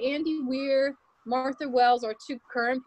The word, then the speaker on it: Weir: a movie with Andy Weir. Matt Damon. Andy Weir. Him. Yep. Yeah. Or Weir, if it's like the Weir. Weird. It's spelled like the beginning of Weird.